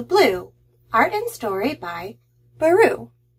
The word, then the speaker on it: Barroux: art and story by baru which rhymes with blue i like that i